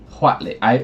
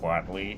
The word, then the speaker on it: Huatli: Huatli. Well, it's just Watley.